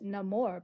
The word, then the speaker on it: Namor: freak in the room I pronounce it no more because I like that better than Namor from Atlantis yeah yeah